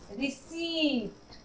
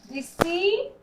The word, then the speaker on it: receipt: तो इसे हम लोग क्या पढ़ेंगे, रिसीट। रिसीट, और यहाँ पी का साउंड नहीं है, रिसीट।